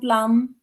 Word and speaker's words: plumb: Plum and plum. Remember, when M and B come together in a word, the B is not pronounced. So, therefore, both of these words are pronounced as plum.